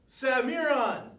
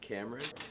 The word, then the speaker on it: Cameron: Why didn't you answer me the first time, Samiron? Because it's pronounced Cameron.